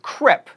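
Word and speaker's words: crêpe: ago it's neo ki and CREP not crepe then we have a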